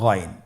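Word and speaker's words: غين: এবং আমরা জানি যে গাইন হরফটি মোটা হারাফ অবশ্যই একটু মোটা করে বলতে হবে আপনারা আমার সাথে চেষ্টা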